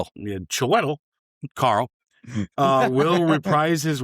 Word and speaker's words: Chiwetel: So, recent insider reports and industry leaks strongly suggest that Chiwetel Ejiofor I know I butchered it. Chiwetel. Yeah, Chiwetel.